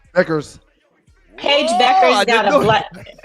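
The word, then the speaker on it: Bueckers: Beckers. Beckers.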